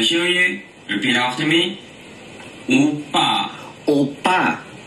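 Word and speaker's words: 오빠: Oppa. Oppa. Appa. Appa. Did they mispronounce right after? Yes. So, oppa, appa. Appa, ow. It's like, ow, appa, I'm in pain.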